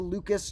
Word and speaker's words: Lucas: fact and the Lucas Luca numbers often called the Lucas numbers but his name probably would have been pronounced more like Luca and so the Luca